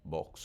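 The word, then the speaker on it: Boggs: Los santos son expulsados de Misouri bajo la orden de exterminio del gobernador Vox, BGS, Box o Books, como quiera llamarlo. No se pronuncia Books, se pronuncia box.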